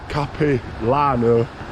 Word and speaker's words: Capilano: on my way to I believe you pronounce it cap Lano SP and Bridge a